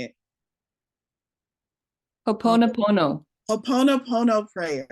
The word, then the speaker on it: Ho'oponopono: Ho'oponopono. Jacqueline knows how to say it. Ho'oponopono.